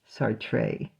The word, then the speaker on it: Sartre: Sartre. Jean-Paul Sartre. You'll love that, right? Yeah. That was how you pronounce that name is how he hated on